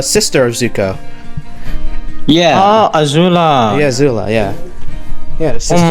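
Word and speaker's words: Azula: I mean you know Sasha is basically a zoua like uh aoua I think I said the name wrong but it was like the sister of Zuko yeah oh aula yeah aula yeah yeah oh my God she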